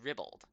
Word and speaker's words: ribald: Oh, it's ribbled, but the other one is peebled.